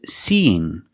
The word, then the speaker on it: seeing: So we have the E sound 2 times. That's the long E sound like green beans 2 times. See-ing. We link these vowels with a y sound. But it's not a very hard y.